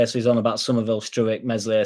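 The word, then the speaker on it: Meslier: on about Somerville stuck mesle silent s p uh Helder like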